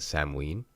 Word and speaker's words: Samhain: spoken at the time I like to call it Sam Wien but again I'm a filthy North American who doesn't have any culture now why am i